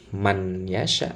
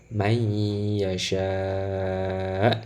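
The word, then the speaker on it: مَنْ يَشَاءُ: sukun bertemu dengan Ya cara bacanya bukan Man yesha tapi bayi Yasha ini ya huruf nun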